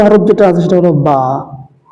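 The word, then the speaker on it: ب: দ্বিতীয় হরফ যেটা আছে সেটা হলো বা। বা, এই বাটা উচ্চারণ হয় দুই ঠোঁটের ভিজা জায়গা হতে উচ্চারিত হয়, বা একালিপ টান হবে, বা, বা।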